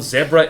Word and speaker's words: zebra: You pronounce zebra with a short E. Well, zebra is technically... Not to go language nerd on people, zebra is the correct way to pronounce it, because it is a Portuguese word.